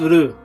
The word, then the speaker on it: Ryu: a fighter much like Ryu, Ryu. Honestly, the right pronunciation is Ru, as in the Japanese letter Ru, meaning dragon.